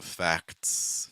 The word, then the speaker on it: facts: end and then also facts facts it the Enrique good qu so fax is the same as facts you can get by